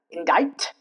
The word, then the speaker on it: indict: Moving on to another rule, C and T together where the C remains silent. For example, indict. Indict, not indict.